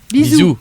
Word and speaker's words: bisous: Bisous.